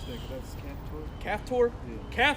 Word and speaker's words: Caphtor: Egypt, and the Philistines from, how do you pronounce that? That's Caphtor? Yeah. Caphtor, and the Syrians from Syrians from Kir.